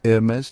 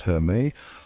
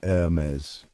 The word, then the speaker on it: Hermès: No H sound, no SS at the end, just a smooth and sophisticated Hermes.